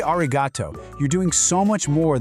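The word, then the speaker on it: arigatō: And then, something really common in Japanese phonetics happened. That hard ku sound at the end just softened. It became a vowel, an o sound, and poof, arigataku becomes arigato.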